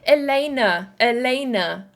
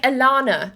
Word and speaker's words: Elena: Okay, hi, my name is pronounced Elena. I hope you're doing well. Elena. Okay, thank you so much. Let me, or is it like Alana? No, Elena.